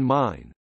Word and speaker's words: Main: main means frankfurt on the mon pronounced like english mine or german mine frankfurt is located on